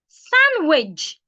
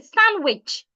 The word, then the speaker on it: sandwich: receed not rece receip muscle not muscle muscle sandwich you can also say sandwich but then don't pronounce the d it's not sandwich isand don't